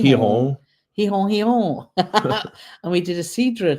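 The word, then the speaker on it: Gijón: Um Ken Cruzen, we we went to Gujon pronounced he hihong and we did a Cidra tour.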